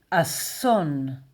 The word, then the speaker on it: אָסוֹן: Disaster in Hebrew is asson.